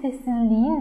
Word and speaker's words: sessizliğin: Sessizlik in. Sessizlikin diye telaffuz edemeyeceğim. Yine K, T, Ç, P ile biten sözcükler. Ünlü harfle karşılaştığında sessizlikin değil, sessizliğin dememiz ünsüzün yumuşadığını gösterir.